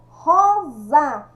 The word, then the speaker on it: rosa: nome da flor vermelha rosa escrita com s sai o som de z antônimo de leve o